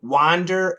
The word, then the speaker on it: wander: What's the difference between wander and wonder? And I think you're talking about pronunciation. Great question. So W-A-N-D-E-R is an wa, wander, wander.